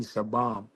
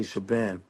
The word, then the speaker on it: Shabaam: know, it's really Shabaam, you know, but we say Shabam.